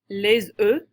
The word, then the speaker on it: œufs: Le beurre, le lait, les œufs, and if you have just one, you'd say un œuf.